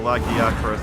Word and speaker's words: Lagiacrus: Alright, so Lagiacrus, that's how they say it. I don't know, I still want to say Lagiacrus.